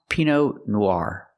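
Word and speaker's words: Pinot Noir: wine P Noire it's not p no it's pronounced Pino Noir use the r sound like car in Far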